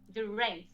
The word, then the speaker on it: Durães: Durães.